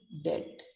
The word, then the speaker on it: debt: i am in debt d e b g but pronounced as d e t which rhymes with the word p e t if you owe money